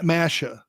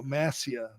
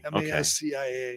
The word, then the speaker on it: Mascia: Masha. Oh, Masha. I thought you said Sam Ash. No, Massia. Oh, okay. Mascia.